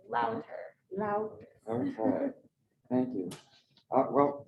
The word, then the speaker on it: Lavtar: but it's Slovenian, so you don't pronounce it as a V, you pronounce it as a U, so it's Louter.